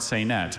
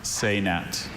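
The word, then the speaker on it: saynète: studies class, Michael wrote and composed a short saynet based on a storyline from his favorite French comic book. Are there any alternate pronunciations? Just the one, saynet.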